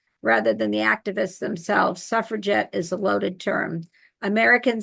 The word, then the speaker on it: suffragette: around they pronounced it with a hard G like suffragette so there reflecting this